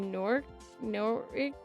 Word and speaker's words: Norwich: That would be Norwich. The W is silent.